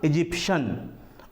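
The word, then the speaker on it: Egyptian: इजिप्शियन कहा जाता है इसमें आप देखेंगे स्पेलिंग क्या होता है लास्ट में टी आई ए एन होता है तो यहां पर भी होगा इजिप्शियन उसके बाद आता है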